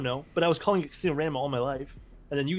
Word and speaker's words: Rama: rama i don't know but i was calling ram all my life and then you guys told me it's not pronounced random it's pronounced rama dude i hurt my feelings